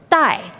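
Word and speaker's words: 带: Ribbon or a sash in Chinese is pronounced dai.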